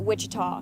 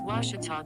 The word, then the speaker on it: Ouachita: university back in texas everybody pronounces it wichita but really it's ouachita washington washington how would you pronounce it it's washita baptist university get it right it's watertall people